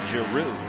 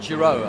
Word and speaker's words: Giroux: pronounce his name so it is giroux not jerome i guess yeah yeah well it's a french name so you know you can understand why you would say zero i would have that's